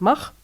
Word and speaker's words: Max: Euh la l'adhésion à l'application de communication qui s'appelle qui s'écrit Max et qui se prononce Mar qui veut aussi dire